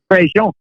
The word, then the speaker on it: Prejean: Well, we kind of anglicize it a little bit. We'd say Prejean. But how would you do It would it? be Prejean. In Prejean. French, it would be Prejean.